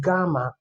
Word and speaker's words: gamma: But this not J sound. This is G sound. So take note. G. The way you pronounce it is gamma.